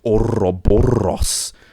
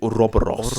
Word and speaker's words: Ouroboros: the initiative and bring the subject of the mystical, tail-devouring Ouroboros to this podcast.